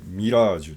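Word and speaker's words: 蜃気楼: 蜃気楼って書いてミラージュって読む。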